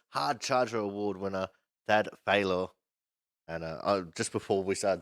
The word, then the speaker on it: Faylor: That was our Autism Winners Hard Charger Award winner, Thad Faylor. And just before we started talking, I was asking him for pronunciation since I've been calling him Fella this whole time.